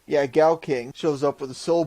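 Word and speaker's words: GaoKing: So, after the Zord fighting and random clip, the main Zord, King Gao, I believe that's how you say it. Gao King! Yeah, Gao King shows up with a soul bird installed.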